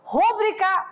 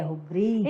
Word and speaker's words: rubrica: Olha lá, qual é o certo? Rúbrica ou rubrica? É claro que o nosso aluno da NASA já sabe que é rubrica. Então faz um X aí em rúbrica. Não é, né? O som mais forte não é mais da antepenúltima sílaba, né?